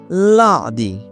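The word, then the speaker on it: lundi: একটু রোজটা জেনে রাখি সাধারণত এন বা এম এর পরে নাক দিয়ে উচ্চারণ হয়। যেমন লাদি লাদি লাদি দ্বিমশ দি মশ এক্ষেত্রে ম এর উপর চন্দ্রবিন্দু বাংলাকে কাছাকাছে রাখার চেষ্টা করছি ল এর উপর চন্দ্রবিন্দু লাদি ম এর উপর চন্দ্রবিন্দু দি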